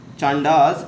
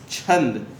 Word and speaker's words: छंद: व्याकरण वर्ड सभी को पता है, व्याकरण डिनोट्स फॉर द ग्रामर, ज्योतिष इज for astrology, it's नॉट चांडास, इट्स छंद। इसको चांडास प्रोनाउंस मत करिएगा, ये छंद है।